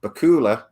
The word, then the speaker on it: Bakula: And I said Scott Bakula. And then I got a million comments saying it's Scott Bakula, like Dracula.